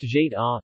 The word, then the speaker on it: Goetta: Pronounced Jeta, G-E-D-da or Goetta in Americanized pronunciation, and Goetta in the Low German pronunciation, this dish probably originated